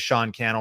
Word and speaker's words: Sean Cannell: so my name is Sean Cannell rhymes with YouTube channel you can find Sean